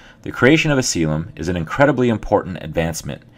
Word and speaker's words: coelom: called the celum that is co e l pronounced celum the creation of a celum is an incredibly important advancement it allows for